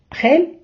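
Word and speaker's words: gel: теж мають чоловічий рід хель і голь Отже правило таке літера х читається майже як українська х перед голосними е та і А перед голосними а у у вона читається як г Друзі а тепер давайте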